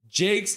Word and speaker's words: Jakes: Uh, Russ Jakes is pronounced Jake, not Jacques.